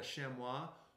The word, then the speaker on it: chamois: It's called a chamois, or as I used to call it when I was growing up, a chamois. So you may pronounce it either way.